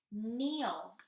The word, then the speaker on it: kneel: the floor that's right kneel we don't pronounce the k because it is silent ready to read on